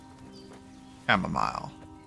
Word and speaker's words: camomile: throw two handfuls of chamomile chamomile all right it pronounced it wrong every single time camomile drop it in the